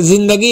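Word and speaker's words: ज़िंदगी: जिंदगी में बोलना है जैसे जिंदगी है ज के नीचे नुक्ता लगा हुआ है तो नुक्ता के साथ आपको बोलना है इसी प्रकार ध्यान से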